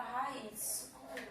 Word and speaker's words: raiz: Aqui nós temos a palavra raiz. Raiz, vamos separar ela, né? Raiz. Raiz. Raiz. A sílaba tônica dela, a segunda vogal, realmente, um I.